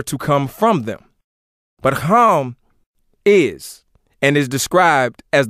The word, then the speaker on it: Ham: the ark were Shem home which some mispronounces ham and Japheth and ham